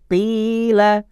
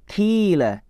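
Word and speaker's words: قيل: Qila, bukan kila, tapi qila.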